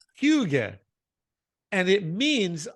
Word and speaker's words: hygge: And it's pronounced, thank you for writing down the pronunciation. Osa. Hygge. Hygge.